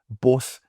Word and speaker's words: BOS: You clearly have BOS. It's a South African word. Though I had to be corrected from saying it boss. So I found religion and started saying it right a little while back.